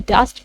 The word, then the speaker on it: dost: तो यहाँ पर है वो डस्ट, DOST, इसको हम डस्ट प्रोनाउंस करेंगे।